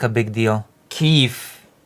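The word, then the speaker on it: Kyiv: Keefe. Okay, the proper pronunciation and spelling is K Y I V.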